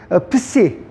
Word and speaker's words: psi: 그 다음에 psi. psi가 이렇게 ps라고 생각하면 됩니다.